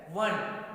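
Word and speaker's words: one: तो वॉवेल्स है ना, बट इसका प्रोनाउंसिएशन क्या नहीं होता, ओश नहीं होता। प्रोनाउंसिएशन जो होता है दैट इज द कॉन्सोनेंट होता है। वन, हम व पढ़ते हैं ना वन, तो वन क्या है, इट इज a consonant not a vowel.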